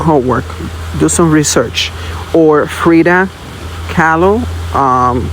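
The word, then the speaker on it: Frida Kahlo: Or Freda Callo. Um, it's spelled K A H L O.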